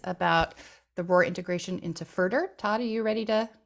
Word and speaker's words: FRDR: Commonly, we pronounce it FRDR.